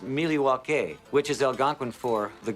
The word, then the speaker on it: Milwaukee: thing I learned about Milwaukee is actually it's pronounced miliwaki which is Algonquin for the good land does